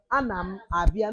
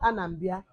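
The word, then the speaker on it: Anam abịa: No, Anam Abia, not Anambia.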